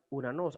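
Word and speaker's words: οὐρανός: Entonces, tenemos la palabra Uranos. Se pronuncia Uranos.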